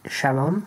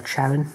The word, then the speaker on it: Charon: I run 4 Black Sage Sharon, or Charon, however you like to pronounce it, maybe even Karen.